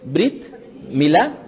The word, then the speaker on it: Brit Milá: Brit Milá, pronuncien Brit Milá.